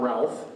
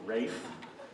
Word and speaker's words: Ralph: is Ray Vaughan Williams it's not Ralph it's rape he's a Welsh so he's pronouncing rape and he went out